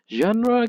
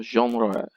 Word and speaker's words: genre: the correct pronunciation because this is a word derived from the french so you say it like the french do you know genre genre mostly so there